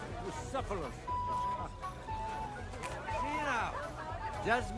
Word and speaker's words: Bucephalus: What kind of name is Bruce Phallus, anyway? It's pronounced Bucephalus.